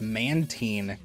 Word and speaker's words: Mantine: Like I made a video like being really militant about the pronunciation of it. It's Mantine, by the way.